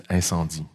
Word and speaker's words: Incendies: guess your next film incendies have I pronounced that correctly in fact you don't it's inandi yeah it's a almost